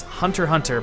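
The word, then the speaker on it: Hunter x Hunter: to do this is Hunter Hunter by Yoshi Tashi it has an X in it but apparently you're not supposed to pronounce the X I think that's dumb but that's apparently how it works so whatever Hunter Hunter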